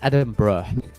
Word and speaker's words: Edinburgh: But uh apparently it's Edinburgh. Edinburgh. Yes. I will be playing in Edinburgh.